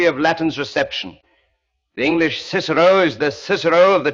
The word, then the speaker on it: Cicero: You say Kakero, the hard C, which is how the Romans almost certainly pronounced it and which gives the name a rather more percussive quality.